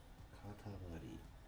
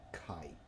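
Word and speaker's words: 塊: Katamari is a clod, lump, or a mass. Katamari. Katamari is a clod, lump, clump, or mass. Katamari. Katamari. Hokani, kai. Are our 2 pronunciations.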